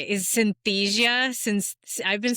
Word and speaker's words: Synthesia: you just tell me how to say is synthesia since I've been saying it like fantia fantasia fantasia. We get a lot of different pronunciations. It's a synthesia.